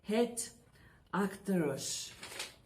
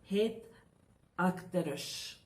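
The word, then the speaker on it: Het Achterhuis: or, as I had given to you, the pronunciation was Het Achterus, okay, the pronunciation.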